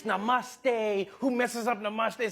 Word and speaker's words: namaste: People were coming on like, dude, it's not namaste, it's namaste.